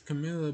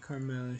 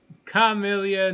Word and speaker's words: Camilla: angels oh oh boy it's camilla by the way not carmella she ain't black okay so i got i got yeah a real stickler for pronunciations commit camilla not carmilla got it the r is the r is silence but but the pirate